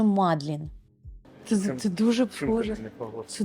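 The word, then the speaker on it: Magdalen: не якийсь там коледж магдалени а один з найпрестижніших коледж Оксфордського університету який був заснований ще у 1458 році і назвали його на честь Марії магдалени а правильна вимова назви коледжу мадлін це це дуже схоже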